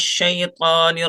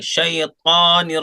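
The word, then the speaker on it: الشيطان: अऊज़ु बिल्लाहि मिनश शैतानिर रजीम। औज़ु बिल्लाहि मिनश शैतानिर रजीम। शैतान नहीं बोलेंगे, शैतानिर रजीम, मोटा कीजिए।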